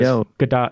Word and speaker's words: Gadot: I don't think the T is silent. That's for sure. No, it's more like Gadot, I think. Like with like a D-ish sound.